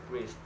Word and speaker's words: wrist: The letter W is silent when it's at the start of a word before the letter R, like wrong, road, and wrist.